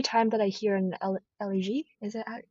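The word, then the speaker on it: élégie: And every time that I hear an elegie, is it how you say it in French? Elegie, yeah.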